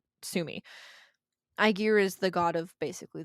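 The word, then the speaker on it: Ægir: to a party in iar's domain I that's not how you pronounce it I know I was a Latin kid I pronounce it aigar TMI aigar is the god of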